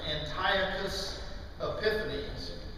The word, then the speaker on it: Antiochus Epiphanes: a king who was north of Jerusalem named Antiochus Epiphanes. If you want to know how that's spelled, it's like Antioch, U.S., Antiochus, but it's usually pronounced Antiochus Epiphanes.